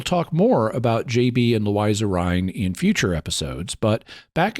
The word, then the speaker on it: Louisa Rhine: With a book by parapsychologist Louisa Rhine, and yes, it is pronounced Louisa Rhine, not Louisa.